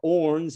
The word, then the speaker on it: Horn: starlings as well as the horns or orns as it's pronounced out there but those are the